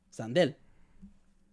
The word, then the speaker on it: Sandel: spell it he's like it spell it's spelled how it sounds and I go s